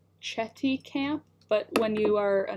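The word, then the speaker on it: Chéticamp: I like how it's called Chetty Camp, but when you are a Nova Scotian, it's pronounced like a bad word and then camp, so it's Chetty Camp, but it's it ends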